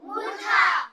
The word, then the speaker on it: মূর্ধা: নাম আরেক নাম এই নটা উচ্চারণ করার সময় আমাদের জিওভাটা জিওভার অগ্রভাগটা মানে জিওভার আগা সেই মধ্যতালু অর্থাৎ মূর্ধাকে স্পর্শ করবে এইজন্য এর নাম মূর্ধা ন যেন উচ্চারণ করার সময় তোমার যেভার আগা দাঁতের মূল দাঁতের গোড়া স্পর্শ করে এটা দন্তন্য আর যেটা মূর্ধা স্পর্শ করে মধ্যলু স্পর্শ করে ওটা হচ্ছে মূর্ধা ন এই হচ্ছে দুই ন এর পার্থক্য পরিষ্কার বুঝতে